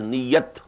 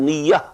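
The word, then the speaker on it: نية: used in hoodoo also we pronounce it as new yet but this is Nia in Arabic and the pluralist new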